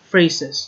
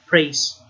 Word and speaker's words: phrases: prepositional phrases phrases yeah it should be pronounced phrase phrases not praise but phrases of please voice player